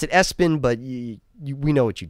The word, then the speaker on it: ESPN: You pronounce it Espin, but we know what you did.